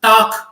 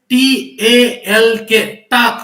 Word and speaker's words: talk: is there with us talk okay t a l k we will call that is a talk but actually L is silent here so that's why the